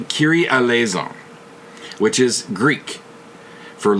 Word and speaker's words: Kyrie: quite pronounced like that so it's K a KY RIE the only time I've ever seen that word or name is the old song by mr. mr. which is pronounced kiri and I've never fully